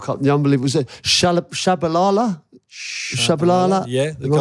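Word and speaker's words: Tshabalala: The unbelievable was it Shabalala?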